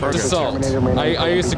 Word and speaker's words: Dassault: Dassault, I always pronounced Dassault. Oh, yes. Yes. But they're pronounced Dassault. I learned that from working with those planes.